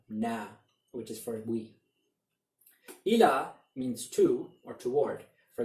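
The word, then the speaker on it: إلى: And notice that the ya at the end, which is not pronounced in ila, does take on a saakin and changes the sound of the word when we connect it to this pronoun.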